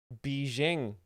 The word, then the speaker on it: Beijing: So this week, President Trump arrived in Beijing for a summit with the Chinese president, and Beijing. Finally, somebody pronouncing it correctly.